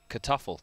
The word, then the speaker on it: Kartoffel: Kartoffel. That's how you say it in German.